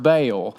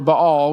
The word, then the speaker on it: Baal: part of this story, you probably heard it pronounced Baal. So, but so either Baal or Bahal. Whichever one you want to go with is fine.